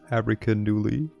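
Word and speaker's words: Abrikandilu: Okay, so first of all, so that's how you pronounce Abracandulu. I will still call them abracadoodles, because I cannot be arsed to go like abracandilu.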